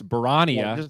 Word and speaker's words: Barania: of five so barania say his name right have some respect Trent remember we were educated by the young serbians it's barania throw an H in there and I think you're good is the main rule all